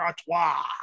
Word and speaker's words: Artois: anything like that it's artois just ask for auto and it is much better than expected and